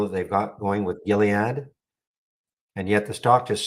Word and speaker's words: Gilead: This is the one that had that big deal with Gilead. I remember hard G. Gilead.